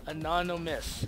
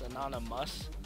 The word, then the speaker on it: anonymous: Anonymous. Miss, not must. Anonymous.